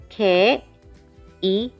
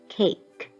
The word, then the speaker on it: 케이크: But Korean, cookie, always think about sounding them out in a syllable block. 1, 2, cookie. 케이크, 케이크, not cake.